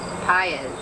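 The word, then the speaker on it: Patz: another very famous child, Etan Paez, who is Pate, as some people pronounce it, whose parents have, as the Goshes have, spent endless hours searching for their lost son, and much pain.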